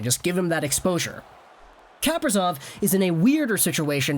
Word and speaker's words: Kaprizov: I kind of pronounced Kaprizov's name like, you know the juice Capri Sun? Yeah, I was saying his name like Kaprizov. But obviously we'll change that up now. Kaprizov is a guy who,